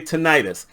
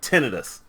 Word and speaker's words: tinnitus: along with the water, sometimes I'm going to say tinnitus. My mother was Southern, my grandmother was Southern, and that's just how we pronounce stuff. But I didn't find out until just before I decided to do this video that the medical people call it tinnitus.